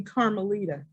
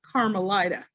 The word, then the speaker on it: Carmelita: refused to call me carmelita she decided that the correct pronunciation was using the long eye not the short eye which resulted in my being called carmelita how do you spell